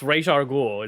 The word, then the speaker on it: Ra's al Ghul: It's Raish al Ghul. It's supposed to be. That's how they say it in the Arkham games. In something. I say Roz Rahul.